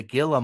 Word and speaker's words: Gila: So yeah, that I should have grabbed a picture of the Gila monster, but a quick and Michelle said it's pronounced Gila monster.